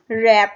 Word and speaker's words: wrap: ऐसे ही रैप, रैप में W silent है, W का साउंड नहीं आएगा, तो WRAP तो लिखेंगे हम रैप, लेकिन जब हम बोलेंगे तो W नहीं आएगा, रैप आएगा सिर्फ, ठीक है।